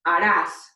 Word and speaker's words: harás: So this future conjugation based off of tú for the verb hacer is pronounced harás.